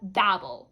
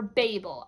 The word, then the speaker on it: Babel: I picked up Babel or Babel. I've heard it pronounced both ways. I go with Babel because that's what feels good.